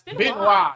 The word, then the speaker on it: Benoit: It's Benoit, yes.